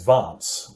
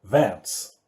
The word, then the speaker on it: Vance: We, as New Zealanders, we have the more sort of English pronunciation, so his name is Vance, whereas the Aussie fella called him Vance.